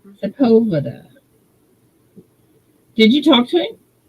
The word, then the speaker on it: Sepulveda: Oh, that's how you pronounce it. Sepulveda. Sepulveda.